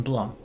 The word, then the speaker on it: Blum: Uh Jason Blum from Blum House. Is it Blum or Bloom? It's Blum. Every single time I hear everyone pronounces it differently. It's Bloom. Okay, trust me. Sure. I checked twice.